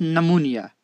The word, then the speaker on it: pneumonia: you can see here this pn cluster consonant cluster p and is not allowed in english language that is why we drop this p sound and pronounce it is pneumonia so when we borrow